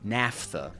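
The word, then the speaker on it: naphtha: Napa. No, not Napa. Nafta.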